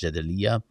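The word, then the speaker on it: Jadaliyya: And of course, uh if people do not know how to pronounce jadeya, it's j a d a l i y a.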